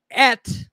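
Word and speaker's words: את: ag and she again bore at right that's the the way of pronouncing it it's a the direct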